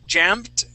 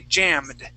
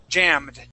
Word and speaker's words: jammed: that same d ending so instead of saying jamed with the T we want to say jammed jammed jammed good okay now when